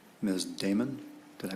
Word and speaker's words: Damon: Miss Damon, did I pronounce that correctly?